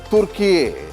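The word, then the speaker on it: Türkiye: Turkey has written to the United Nations formally requesting that the country be referred to as Turkiye, as it is spelled and pronounced in Turkish.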